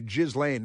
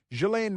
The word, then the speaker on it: Ghislaine: I always want to say Ghislaine Maxwell, but it's because that's how it's spelled. But Ghislaine Maxwell.